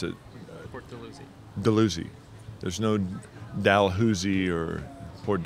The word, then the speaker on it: Dalhousie: I'm not sure what I don't know exactly what town I'm in or how do you pronounce it? Port Dalhousie. Dalhousie.